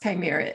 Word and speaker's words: chimera: Now, I think it's pronounced chimera.